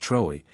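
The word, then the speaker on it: Trewa: All the witches in West Cornwall used to meet at midnight on Midsummer Eve at Trua, pronounced Troy, in the parish of Zenner, and around the dying fires renewed their vows to their master, the devil.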